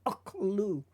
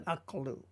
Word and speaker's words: aklu: Again, we're introducing the kamatz rule there. So this becomes a short O sound, aklu, rather than aklu.